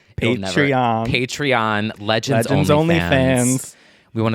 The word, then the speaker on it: Patreon: And also, to start off, we just want to say shout out to our patron. Fuck, I say it wrong every single time. Patreon, Legends Only fans.